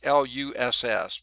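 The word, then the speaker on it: loess: materials the luss and this is pronounced like it's l-u-s-s but it's luss is fine-grained dust deposited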